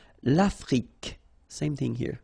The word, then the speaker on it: Afrique: L'Afrique, same thing here. Final E, it's only the K at the end that you will hear.